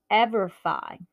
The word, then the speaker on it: EverFi: But so let's talk about this one, EverFi. Like not Semperfi, it goes Semperfi. So this is EverFi.